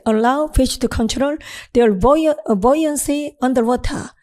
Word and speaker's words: buoyancy: 자신들의 어떤 부력 상태, 물 아래에서 떠있는 것, buoyancy, 발음이 buoyancy, 이건 부력, 떠있음입니다. 자, 화면 보십시오. 발음이 buoyancy, 물에 떠있음, 부력 이런 겁니다.